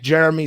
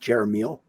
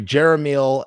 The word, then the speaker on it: Jeremiel: Anyway, I want to thank Jeremy so much for coming on. And Actually, it's pronounced Jeremiel. Yeah, sorry, Jeremiel, aka.